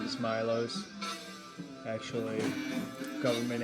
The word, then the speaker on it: Milos: So, I am here today with my friend and fellow artist, Milos.